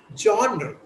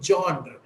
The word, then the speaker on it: genre: No, it's not genre. Okay. Yes, sir. No, baby. No, baby. Okay, it's okay. Okay, Abdul. So the word pronunciation is genre. It's actually genre.